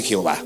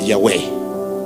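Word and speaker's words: Yahweh: la Biblia católica yahvé Cuál es la mejor pronunciación de Dios según los expertos que les da miedo incluso pronunciar los expertos hebreos les da miedo pronunciar el nombre Eh es yahwe yahwe es el nombre más apegado a la traducción correcta y si me escucha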